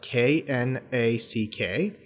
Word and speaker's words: knack: in the beginning a knack for something uh it's written as k n a c k but the beginning k is silent so they seem to